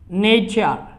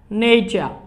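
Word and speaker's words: nature: যদি আমরা কোনো শব্দে টি এর পরে ইউ আর ই, অর্থাৎ টি ইউ আর ই একসাথে পাওয়া যায় তখন ওই টি এর উচ্চারণ সাধারণত চর মতো হয়।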